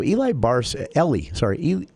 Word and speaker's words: Ellie Barcy: It's kind of spelled like Eli. Yeah, and I have a couple of friends named Eli, so it just comes out that way. But it's Ellie Barcy.